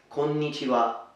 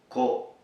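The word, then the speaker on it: こんにちは: So hello is konnichiwa, konnichiwa. So let's break it for the pronunciation. Ko-ni-chi-wa, konnichiwa, konnichiwa, konnichiwa.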